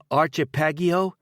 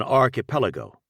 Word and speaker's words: archipelago: ties to underworld figures what's an archip pagio Joe looked at his son a what Thomas nodded at the newspaper an archip Lago this time he pronounced it archip Lago an archipelago Joe said yeah try it slowly an archipelago first try